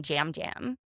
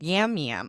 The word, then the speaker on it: Yam Yam: So she would know all of these people, but there was Natalie, Yam Yam, which they kept calling him Jam Jam. It's spelled Yam Yam.